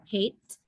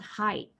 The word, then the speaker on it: height: And what I just heard that you mispronounced is I think you said hate. Hate. I think you're talking about height, right?